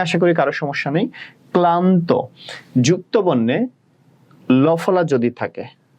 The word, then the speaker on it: ক্লান্ত: যেমন স্নান করিয়েছিলাম তোমাদের, মানে স্নান করাই নাই, স্নানের শব্দটা লিখিয়েছিলাম, উচ্চারণ লিখিয়েছিলাম, ওখানেও ভাঙা হয় নাই। সেম ভাবে যদি আসি ক্লান্ত, কয়ল আকার হবে, তোমরা এভাবে লিখবা না, কয়